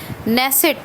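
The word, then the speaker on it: Knesset: नेसेट, के silent है, के से लिखा जाता है।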